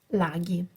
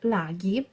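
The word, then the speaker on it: laghi: to this sound because when you have in Italian the letter G followed by the h it's not g sound but it's G so I know English people would pronunciate this word as large but it's not logic it's laggy and so Lago singular and lagi plural so pay attention to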